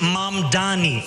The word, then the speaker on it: Mamdani: And furthermore, the name is Mom Dani. M A M D A N I. You should learn how to say it.